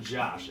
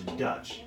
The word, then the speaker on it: Dutch: Now, that's not Josh. Everybody thinks I say my name is Josh. It's Dutch, like a Dutch. Like you go to the gas station, you put $1 on the counter, and you get a Dutch.